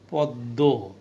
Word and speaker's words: পদ্ম: পদ্ম, শেষে আছে, দ দুইবার পাচ্ছি।